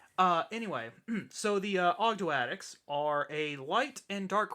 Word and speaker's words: Ogdoadic: which are the Abhiss, which in the TCG they're being called Ogdoadics or Ogdodiac, depending on however you want to pronounce it. I prefer Ogdoadic because that just sounds cool.